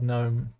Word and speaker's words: gnome: The word gnome. The G is silent.